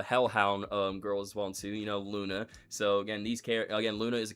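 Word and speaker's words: Loona: Luna. So again, Luna is a character from Hell of a Boss, who is the adopted daughter of Blitz. The O is silent, and she works with the others at IMP or IMP Imp.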